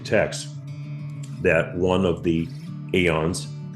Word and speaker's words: aeons: They were called aeons, meaning eternities, A-E-O-N-S, pronounced aeons, meaning eternities in Greek.